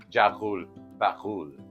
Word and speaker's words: Jaghool Baghool: the way the traditional name for it is jul bakul try pronouncing that jaul bakul I know some people are laughing right now